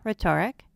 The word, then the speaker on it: rhetoric: unique silent letter teams silent H of R H as in rhyme rhetoric sellin m and m